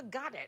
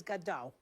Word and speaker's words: Godot: Because that's, I think, the pronunciation that Beckett wanted. Oh. Yeah. Well, everybody else says Godot. Some. The French don't, they say Godard. The Germans go Godot.